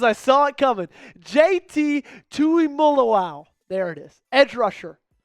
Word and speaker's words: Tuimoloau: draft, the Packers are going to select JT Mully. Oh, wow. I butchered that cuz I saw it coming. JT Tui Mullaw.